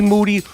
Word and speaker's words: Moody: You are now listening to a brand new I Am Rapaport stereo podcast where me and Moody, whose last name rhymes with duty, are going to be